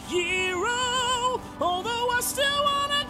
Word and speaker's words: gyro: He's going to get a gyro, although it's technically pronounced hero.